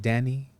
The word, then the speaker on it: Dani: now like legit is it Danny right like Danny or how do you pronounce it Danny Danny okay